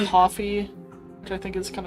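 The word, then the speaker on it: Ko-fi: It's pronounced coffee cuz the whole concept is pay for my cup of coffee.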